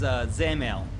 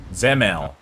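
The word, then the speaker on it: Dzemael: This is Zemel. Zemel. From the man himself. There we go. Zemel. The guy who wrote the thing. I'll take his word for it.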